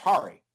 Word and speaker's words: Hari: It's pronounced Hari, but everybody calls him Harry because they would.